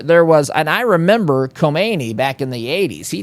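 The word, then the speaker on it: Khomeini: If you can even hear me say the difference there. And I don't speak the the language but I mean they're they're pronounced very similarly.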